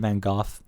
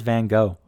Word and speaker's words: van Gogh: van Gogh death yeah I said Vincent van Gogh apparently that's how you say it and that's how they say it in loving Vincent as well but everyone says van Gogh and I feel like if I say van Gogh I just sound like a douchebag I mean I'm gonna